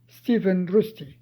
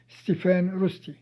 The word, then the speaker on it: ستيفان روستي: ستيفن روستي، أو زي ما بننطقه في مصر ستيفان روستي.